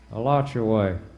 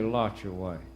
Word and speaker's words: Alachua: I pronounced that right a lot your way or should I say lock your way all right well I'll